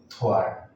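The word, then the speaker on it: thwart: इसमें W silent है, इसको पढ़ेंगे अपन थ्वार्ट।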